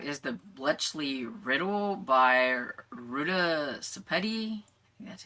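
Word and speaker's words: Ruta Sepetys: So this next one we have is the Bletchley Riddle by Ruta Sepeti.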